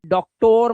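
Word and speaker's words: doctor: जब किसी वर्ड के लास्ट में ON या OR आ जाए तो बेटा O का जो उच्चारण है ना, वो आ करना, आ, ओ मत कर देना। इसीलिए डॉक्टर मत बोलना, डॉक्टर, ठीक है। डॉक्टर, आ की आवाज, समझ आया?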